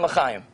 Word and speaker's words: L'chaim: Am I pronouncing it correct? You're doing Chabad, Chanukah, and L'chaim.